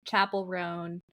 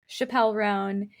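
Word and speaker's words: Chappell Roan: I would just like to thank our follower on TikTok who chimed in that she had also been pronouncing Chapel Roan, Chappelle Roan.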